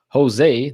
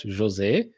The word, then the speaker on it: Jose: Welcome everyone to the lunchtime hour with your hosts, and now I will pronounce it correctly because I did get some corrections in the comment section. Jose, not Jose, Jose, and myself.